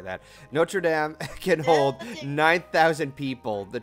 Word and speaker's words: Notre Dame: Well, actually, that's how it's pronounced, Golden. Notre Dame.